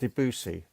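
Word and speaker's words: Debussy: snowflakes are dancing it's the music of uh debsy what's that Frank it's it's pronounced deusi oh okay so it's the music of deusi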